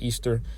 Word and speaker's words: Ishtar: It says, "This is Ishtar, pronounced Easter.